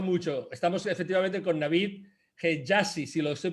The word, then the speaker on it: Hejazi: Estamos efectivamente con Navid Hejazi, si lo estoy pronunciando bien, Navid.